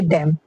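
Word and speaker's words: damn: तो डैम में भी क्या है? एन साइलेंट है।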